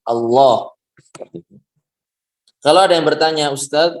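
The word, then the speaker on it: الله: Pada 3 tempat ini maka lafzul jalalah lamnya dibaca tebal. Jadi apa yang dibaca tebal? Ya, lam dari lafzul jalalah. Bukan awalnya, bukan alifnya, bukan, tapi lamnya. Allah.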